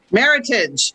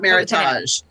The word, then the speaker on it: Meritage: reading from the book Meritage did I say it right Meritage like Heritage yes not Meritage correct um I can make